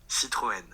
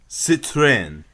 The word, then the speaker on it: Citroën: Okay, what does Wikipedia voice guy say the pronunciation of this car is? Citroën. Citroën. Sure, I'm gonna do it again. Citroën.